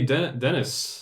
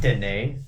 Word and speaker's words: Denis: It's like, hey, Dennis. Yeah. Denis. Denis. It's pronounced Denis.